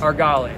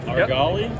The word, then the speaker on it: Argali: absaroka i got you and the brand is our golly argali yep okay gotcha that's very cool so what's